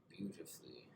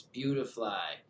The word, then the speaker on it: Beautifly: Beautifully. Why do I keep saying that? It's Beautifly.